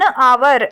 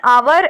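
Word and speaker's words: hour: words से से पहले जिनमें एच साइलेंट होता है जैसे कि एन आवर एन आवर an honest person N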